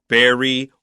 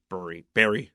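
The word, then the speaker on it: bury: to cover with Earth how do you say it Barry Barry because I know that in Philadelphia a lot of people say berry berry yeah very good okay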